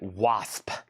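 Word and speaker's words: W.A.S.P.: Wasp.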